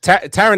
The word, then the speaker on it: Taron: Yeah, Taron Edgerton.